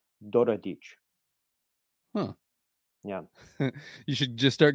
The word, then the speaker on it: Daradics: In Hungarian, the pronunciation is Doradic.